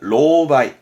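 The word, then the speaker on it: 狼狽: 발음은 로바이.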